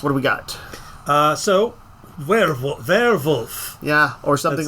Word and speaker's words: Werwlf: So Werewolf. Yeah, or something like that. It's spelled WERWLF. Yep, or ULF. Yeah, or I said ULF. I heard WLF. Like we're wolf.